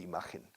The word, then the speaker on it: image: Fíjate en la pronunciación de imagen. Image, como si fuera imagen, ¿no? Image. The first syllable and the second syllable have the same phonetic sound.